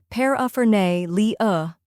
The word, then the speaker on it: paraphernalia: Next is a short and relaxed sound, like the A in sofa.